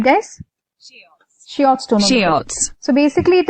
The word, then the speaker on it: Schiotz: Schiotz? That's right, guys. Schiotz Tonometer.